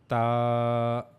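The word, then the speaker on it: ت: Try to connect your tip of the tongue to the upper incisors, and then read ta. Again, ta.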